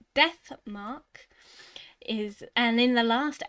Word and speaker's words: Death Mark: in the last episode i pronounced it dismark and looking back at the recordings it makes me laugh every time but death mark is and in the